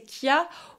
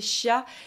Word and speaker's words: chia: ses graines et selon on peut le prononcer plus comme il le prononce là-bas à ce moment-là c'est Kia ou le prononcer d'une façon plus francisée qui est chia les deux se prononcent